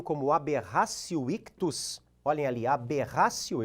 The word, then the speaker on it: aberratio: Já no erro na execução, conhecido em latim como aberratio ictus, olhem ali, aberratio, eu escrevo com o T e pronuncio com o som do C, aberratio ictus, o agente erra a pontaria, o artigo 73 do Código Penal.